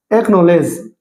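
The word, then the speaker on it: acknowledge: जैसे वर्ड है अपना एकनॉलेज। अब एकनॉलेज में यहां पर देखिए सी जो है वह सी कोई साउंड नहीं दे रहा यहां पर के की साउंड नहीं एकनॉलेज उसी प्रकार देखिए अक्वायर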